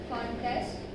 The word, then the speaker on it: contest: this two syllabic words, if the word happens to be a noun or an adjective, then we are stressing syllable number one. Okay, for example we have contest, so here the word contest is a noun.